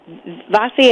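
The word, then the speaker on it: Vassi: we have because we spoke about Marco bossy bossy am i pronouncing his last name right yes that's right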